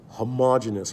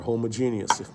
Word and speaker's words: homogeneous: right here will be described as homogeneous or homogeneous depending on your pronunciation all right so we